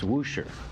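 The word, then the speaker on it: Worcester: town in western massachusetts spelled w-o-r-c-e-s-t-e-r pronounced woosher no booster you're a jerk twister dude i was indeed an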